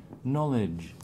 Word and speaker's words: knowledge: Where's the stress? Knowledge in the first O. How do you pronounce the E? Wouldn't pronounce it. Knowledge. You do? Yeah, the one that wouldn't pronounce is the last one, is a swa.